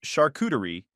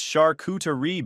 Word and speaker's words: charcuterie: At one point during dinner, I mispronounced charcuterie and Tinsley corrected me in front of everyone. It's charcuterie, babe. The T is soft.